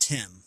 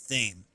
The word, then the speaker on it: Thame: I don't think that's pronounced Tim. I think that's pronounced Thame.